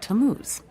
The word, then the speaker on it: Tamuz: to what T A mm u z it's pronounced tamuz maybe if you show him your evidence he'll